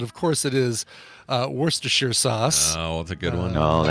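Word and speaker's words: Worcestershire: here sauce but of course it is uh Worster sheer sauce oh it's a good one oh that's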